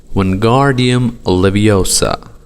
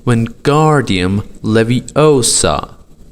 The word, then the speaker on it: Wingardium Leviosa: "Wingardium Leviosa," he shouted, waving his long arms like a windmill. "You're saying it wrong," Harry heard Hermione snap. "It's Wingardium Leviosa. Make the gar nice and long."